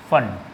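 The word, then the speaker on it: Pfund: क्या नाम देंगे, फन, पी साइलेंट होगा, और हमें मिलेगा इसमें भी इंफ्रारेड ही।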